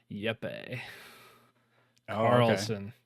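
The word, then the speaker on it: Jeppe Carlsen: of limbo and inside I I believe it's pronounced yepe Carlson but yepe Carlson uh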